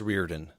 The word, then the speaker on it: Reardon: It's so Jake, it's Reardon. So I'm telling you that because you mispronounced it.